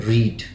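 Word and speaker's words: read: क्रिया का तीसरा रूप आई हैव रीड, ये रीड का होता है, रीड, रेड, रीड। ठीक है ना। स्पेलिंग तीनों में सेम होता है, इसका प्रोनाउंसिएशन बस चेंज होता है।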